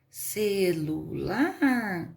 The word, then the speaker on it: celular: e se o lular celular a última é forte aqui é a última lar a girafa girafa girafa